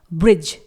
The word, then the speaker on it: bridge: यहां पर G से पहले D लेटर आया हुआ है रेड कलर का जो कि साइलेंट है। अगला वर्ड है ब्रिज, BRIDGE।